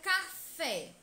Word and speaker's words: café: fora veja os exemplos na palavra café o acento agudo indica que a última sílaba é a sílaba tônica O que é a mais intensa e mostra também que a pronúncia dessa sílaba deve ser aberta café café turma a pronúncia dessa sílabas deve ser aberta com som aberto com som para fora café café na